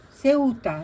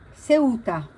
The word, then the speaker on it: Ceuta: Ceuta, c'est en espagnol, le U, ça se prononce O, ou, Ceuta.